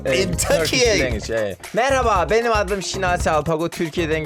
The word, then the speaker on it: merhaba: Merhaba.